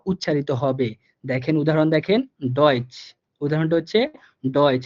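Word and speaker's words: Deutsch: দেখেন উদাহরণ, দেখেন ডয়েচ, উদাহরণটা হচ্ছে ডয়েচ। দেখেন এর ডিটা কিন্তু ড এর মতো উচ্চারিত হইতেছে।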